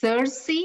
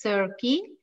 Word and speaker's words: Circe: a novel by madeline miller the novel is cersei or some people pronounce it as sir key she's the greek demi goddess and she's the